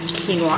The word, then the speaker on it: quinoa: And there's some like stir-fried vegetables with quinoa. Quinoa, I said it right, I was going to say quinoa.